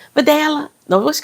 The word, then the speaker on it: Vidalia: She was giving all the Spanish pronunciation. She was like, "Vidalia." No, what she call her? Cuz it's it's Vidalia. She kept calling her "Videla.